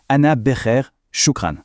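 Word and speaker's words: أنا بخير شكرا: Eh bien, la réponse la plus simple, la plus courante, c'est « ana becher shukran », ce qui se prononce « ana becher shukran ».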